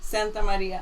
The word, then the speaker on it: Santamaria: Santamaria.